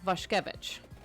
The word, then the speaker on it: Vashkevich: Because, like, Dan's last name, for example, Vashkevich, is how it's pronounced. If you saw it, you wouldn't pronounce it that way.